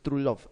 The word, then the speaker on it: Truelove: Se escribe Truelove. Truelove, es Trulov.